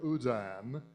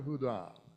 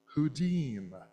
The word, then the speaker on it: Houdin: to be like Robert Houdin, whom he mistakenly pronounced Houdin.